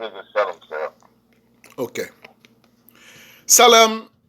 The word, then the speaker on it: Salam: Salam, S-A-L-A-M. Salam. Like salam, but there's no stretch in it.